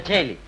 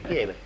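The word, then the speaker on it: Coeli: il giornale scritto così Sì ma si pronuncia cieli qui a Roma che è al paese quiere e l'avvocato Ah bisogna andarci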